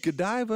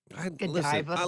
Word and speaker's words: Godiva: This is a good Godiva, is how you say it? Mm-hmm. Gold diva, gold diva. Godiva.